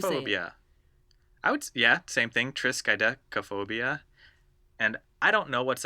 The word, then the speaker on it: triskaidekaphobia: okay here it goes it's a tricky one and it's like 18 letters long Triss Chi deca phobia triskaidekaphobia just good yeah oh yeah same thing triskaidekaphobia and I don't know